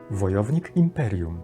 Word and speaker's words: Wojownik Imperium: The next Polish sentence from the card is the name of the character, which I took as a series name: WOJOWNIK IMPERIUM.